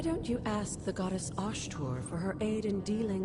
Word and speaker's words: Osthur: Why don't you ask the goddess Osthur for her aid in dealing with that barrier over there? osthur. That's how it's pronounced.